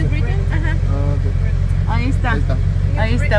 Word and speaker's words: New Britain: ¿Es cómo se pronuncia? New Britain, ajá.